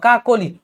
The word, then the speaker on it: কাকলি: কাকলি, তুমি কিন্তু ওকার উচ্চারণ করছো, কি বলবা? কাকলি।